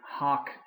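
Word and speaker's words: hāc: the ablatives we're done hoke hawk hoke is how we're going to pronounce those but for the accusatives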